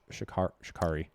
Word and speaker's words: Sha'Carri: the, like, what's going on with her, like, Sha'Carri.